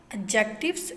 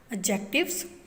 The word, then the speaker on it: adjective: lecture of English topic adjectives and use of may and might. First of all, we will discuss adjectives pronounced as adjective. We will pronounce this word as adjective because D is silent.